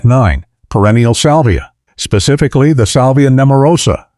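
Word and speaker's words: Salvia nemorosa: Specifically the salvia neurosa pronounced salvia neurosa varieties like mayite keradana and blue hill.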